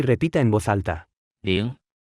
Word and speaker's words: 零: 零。零。零。零。零。零。零。 Se pronuncia con el segundo tono.